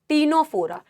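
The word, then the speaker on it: Ctenophora: 10 से आ गया टीनोफोरा टिनोफोरा में भी सी साइलेंट था ना टीनोफोरा 10 से क्या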